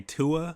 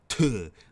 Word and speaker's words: Tuah: I hate how she keeps trying to teach people how to say tuh, because a lot of people say Tuah, but it's Tuah, like you spitting Tuah, I hate that